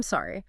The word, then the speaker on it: sorry: Same for say I'm sorry. The I'm is quick, unstressed, reduced, and sorry needs a clear open o sound like in hot or pot.